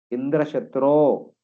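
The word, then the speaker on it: Indraśatru: spell the word Indra the chatro should be strongly pronounced Indra chatro then the enemy of Indra should be strong enough to kill Indra instead he spelled Indra chhas he spelled Indra for long time and chhat for small time that means Indra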